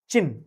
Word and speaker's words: Qin: ठीक है, तो QIN इज प्रोनाउंस्ड एज चिन्ह।